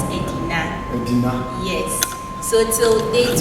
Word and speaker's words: Edina: Aldea means a village. Aldea. Yes. Means a village. Yes. But the locals were not able to pronounce that. So they pronounced it as Edina.